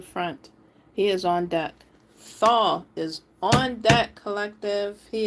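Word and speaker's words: Thoth: Thaw.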